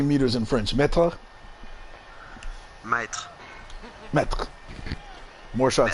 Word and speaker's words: mètre: Mètre.